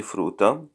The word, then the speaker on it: frutta: So perché non mangi frutta? Frutta. Notice there are two consonants, letter T.